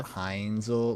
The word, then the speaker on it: Heinzel: name uh Jeff yeah heinzel like the ketchup like it's really spelled like that we're even getting the